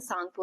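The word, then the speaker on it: Tsangpo: यालंग सांगपो river जो है सो ये जो है मानसरोवर से ओरिजिन हो के यहां तक किसको क्या कहते हैं? यालंग सांगपो। ठीक है? इसमें टी साइलेंट रहता है।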